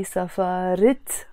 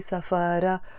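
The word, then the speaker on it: سفرة: And a tiny tip I can give you from now when it comes to Lebanese Arabic only is that when you start pronouncing the te marbuta, the fatha on the ra, for example, we say safara, becomes a kasra in this case, so it becomes safarit.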